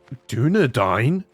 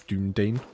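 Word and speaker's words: Dúnedain: landless but you still dunad dine you have dunad dine Rangers oh man do you guys remember when I used to pronounce dunad as dunan this is why I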